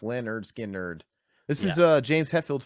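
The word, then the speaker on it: Lynyrd Skynyrd: Oh wow, yeah, pronounced Leonard Skinner.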